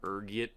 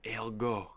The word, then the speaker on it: ergot: There's a few different ways you can pronounce it depending on your social standing, ranging from ergiet to elgo. Being the disheveled pauper I am, I prefer ergot. It rolls off the tongue, you know.